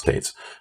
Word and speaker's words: Tetz: And one of the things I would do, my last name is Tetz, and I would pronounce Tates.